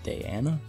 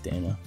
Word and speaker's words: Dana: sister Dana let's be supposed to pronounce it Diana Diana whatever I'm gonna stay with Dana and the one that